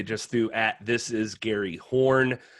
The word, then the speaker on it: Horne: Yeah, you can find me and links to everything basically just through @This Is Gary Horne. That's Horne with an E. The E is silent until midnight.